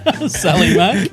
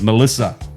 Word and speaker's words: Melissa: Sally Mack? No, it's not Sally Mack. Marley Sack. Mally Sack? No, I was dumbfounded on how to say it, but I've since learned that it is Melissa.